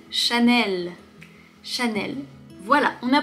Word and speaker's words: Chanel: Chanel. Chanel. Il n'y a pas de R, il n'y a pas de nasal, il n'y a pas de lettre muette. Celui-là, il est très très facile. Chanel.